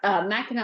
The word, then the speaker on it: Mackinac: Mackinac Island. Is that Yes. how you pronounce it, or Mackinac? It's Mackinac Island.